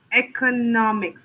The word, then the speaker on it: economics: Economics. So the stress would be on the no.